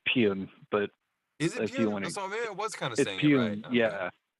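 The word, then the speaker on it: Pyun: the reason i started pronouncing his name the right way because i was saying pyeong for like you know a long time in my life but i think anyway i think technically it's pune but if you wanna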